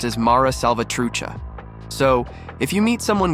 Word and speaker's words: Mara Salvatrucha: groups in the world and its name is pronounced as Mara salvatrucha so if you meet someone with huge tattoos